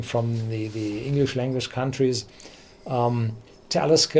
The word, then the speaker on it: Talisker: the English language countries, Talisker is pronounced on the first syllable. Every Gaelic distillery is pronounced on the second one, Clynelish, Lagavulin, Bo More. So they are pronounced on the second one, Talisker on the first, because it's Nordic.